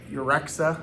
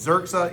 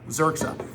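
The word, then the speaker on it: Yrxa: Remember those Urexa?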